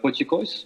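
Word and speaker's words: potjiekos: And it's similar to the pochikois, if I pronounce it well.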